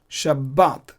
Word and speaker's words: Shabbat: pronounce a long sound Shabbat but I'm pronouncing b double like I'm doubling the B just like as in English Sabbath Sabbath B two B's are there similarly we pronounce